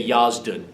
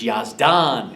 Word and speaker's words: Yazdan: and so she's making an American or somebody that didn't know might say yasan okay but it's yazdan and so see she's